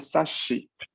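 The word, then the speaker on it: 雑誌: Entonces yo pronuncio doble esa, ese sh. Por eso yo digo sashi. Sashi. O sea, Sashi. alargo el sonido sh.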